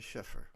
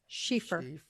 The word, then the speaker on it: Schieffer: let's do it and the correct pronunciation of your last name is sheffer correct no oh good thing like she is wearing fur schieffer i'm glad i didn't